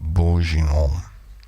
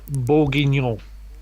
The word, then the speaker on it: bourguignon: Tom, that's beef bourguignon. Oh, Bourguignon. Oh, not Bourges. Bourguignon. Are you sure? Tom, that's beef bourguignon. Bourguignon. Oh, yeah, well, you got the no, right?